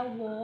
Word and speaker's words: वो: No, this waha is completely wrong pronunciation of wo or वह.